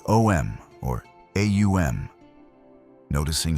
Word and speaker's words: Om: The mantra Om isn't simply 3 letters, but a precise sequence of sounds, Aum, that gradually closes the vocal apparatus, representing the cycle of creation, maintenance, and dissolution.